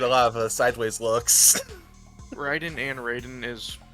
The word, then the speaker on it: Raiden: uh Shinto God yes but in actual Shinto it's pronounced Ryden is this gentle won